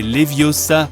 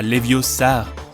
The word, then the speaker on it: Leviosa: besoin d'aide e Siri c'est Leviosa pas leviosar appli de mesure transporter